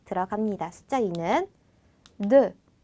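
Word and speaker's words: deux: 근데 벌리지 마시고 입을 동그랗게 오므려 주신 상태로, 그렇게 고정한 상태로 되라는 소리를 내주시면 됩니다. 자, 그럼 발음이 어떻게 되냐면 드 이런 발음이 되거든요. 그러니까 숫자 2는 드 이렇게 발음해 주세요.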